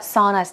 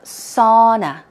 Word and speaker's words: sauna: let's go over it a lot of people tend to say muna right sir muna but it's more sauna sauna it's like two syllables sauna sauna ok aniele this is